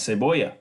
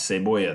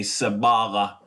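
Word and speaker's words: cebolla: La Ceiba yeah let's say Boyer ASA Boyer is an onion onion onion okay lah say boy yeah let's say boy the Double L sound don't say Sababa no it's say boy yeah next one is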